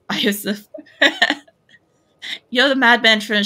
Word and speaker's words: Iosif: It's like Joseph, but it's Iosif.